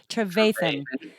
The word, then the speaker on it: Trevathan: Trevathan.